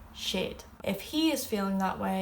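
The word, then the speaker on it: siad: You all is shiv, and they is shade. I, you, he, she, we, you all, and they. And then that's may, tu, she, she, shin, shiv, shade.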